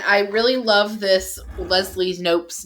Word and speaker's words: Knope: mean i think leslie knope is like the perfect name for a character with such a can-do attitude and i love that it has a like the silent k all of them we